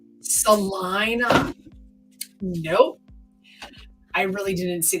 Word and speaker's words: Salina: I said Selena. What are you talking about? The basement of a Selena hospital. Oh, Salina. Salina. Nope. I really didn't see that it said IE. I just was seeing E. Salina?